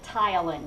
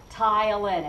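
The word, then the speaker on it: ptyalin: you can call it Tylen notice the p is silent Tylen and the Y is pronounced like a long eye tile and is another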